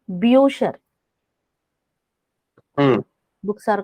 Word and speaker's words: Bücher: So here, with umlaut, it is U, pronounced as U. For example, books are called Bücher.